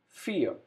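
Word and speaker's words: vier: number three number four fear v alphabet is pronounced as f and we have a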